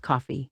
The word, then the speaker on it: Ko-Fi: Tôi nghĩ đó được phát âm là Coffee.